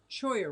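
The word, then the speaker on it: Cholla: right Matthew more cichlids it's Spanish 2 L sound like Y Spanish - L sound like why did I miss something Oh Troy yeah sure you would did I say it wrong Choya Road that's right Troy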